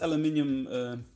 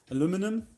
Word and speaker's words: aluminium: this is a cast aluminium plaque i know americans say aluminum but we are going to call it aluminium because that's what it's actually called so as you can